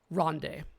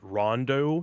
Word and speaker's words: Ronde: game ever made perhaps Ronde oh man well first of all if you look at the back of the box you'll find that you're actually supposed to pronounce it Rondo so fake fan alert